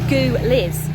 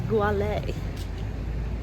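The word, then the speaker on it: Gueliz: And it's in a neighbourhood which, if you're like me, would probably pronounce it as Gouliz, but it's not Gouliz, I think it's Goualé.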